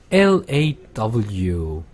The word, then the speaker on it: law: 로스쿨 하는데 law에서 aw가 바로 어 발음입니다. 아. 그러면은 l로 시작해서 어로 끝나면 되니까 law, law 이렇게 될 거예요. low, o 발음이 아니라 아 발음, 아 law, law.